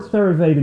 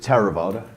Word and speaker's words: Theravada: What does the word Theravada mean? And tell us a little bit about what the tradition is and where it came from, Martin. In Pali, I pronounce it Theravada.